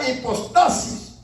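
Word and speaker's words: ὑπόστασις: se encuentra una palabra griega que se pronuncia de esta manera, hipostasis, que quiere decir 100% divino y 100% humano, o sea, refiriéndose a la naturaleza de Cristo.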